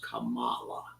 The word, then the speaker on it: Kamala: That I think that's the way she wants it pronounced, Kamala.